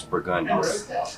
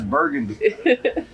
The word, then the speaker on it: Burgundy: That's a street in New Orleans, it's Burgundy. You said it right. Yeah, shot. Most people think it's Burgundy.